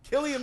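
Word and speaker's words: Cillian: all right all right all right all right kilan Murphy that's how you pronounce it Killian Murphy winning for best actor in your draws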